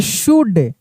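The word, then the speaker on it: should: लिखा रहता यहां पे एस एच ओ यू एल डी तो क्या पढ़ते शुड अगर लिखा रहता यहां पे डब्ल्यू ओ यू एल एल डी तो क्या पढ़ते वुड यानी यहां पे एल साइलेंट रहता है।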